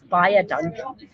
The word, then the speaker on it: baie dankie: So what I tell people is if it's baie dankie, write it out phonetically, and baie dankie is quite an easy one because it's like buy a donkey.